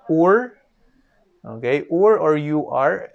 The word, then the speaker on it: Ur: abraham is living here in a city called or okay or or you are spelled as you are pronounced as or and this is in sumeria okay and this